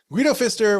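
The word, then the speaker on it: Guido Pfister: Guido Fister was born on September 13th, 1818 in Henjin, Germany.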